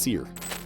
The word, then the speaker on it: SERE: in survival, escape, rescue and evasion, or SERE, pronounced SERE.